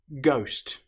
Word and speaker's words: ghost: Ghost. The letter H, as you'll notice, doesn't sound at all.